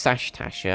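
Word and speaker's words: Sastasha: It's Sashtasha, I've been saying it wrong.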